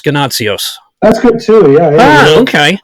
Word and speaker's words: Ganotsionis: I was going to say Ganotsionis, so it's Ganotsionis.